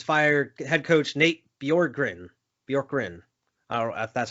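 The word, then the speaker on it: Bjorkgren: uh the pacers fire head coach nate bjorgrin bjork wrin that's how you pronounce his name hey man they weren't they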